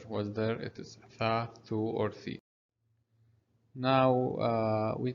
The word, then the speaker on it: ثاء: So Tha is pronounced like TH in English, similar to think. So Tha, not the, Tha.